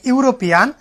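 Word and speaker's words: European: তো বিষয়টা কিরকম দেখেন, যে হচ্ছে ড্যাশ ইউরোপিয়ান, তার মানে হচ্ছে কি ভাওয়েল বিগিনিং ওয়ার্ড ই, কিন্তু উচ্চারণ হচ্ছে কিসের মতো, ইউ এর মতো, লাইক ইউরোপিয়ান, যার কারণে সেখানে এ বসছে।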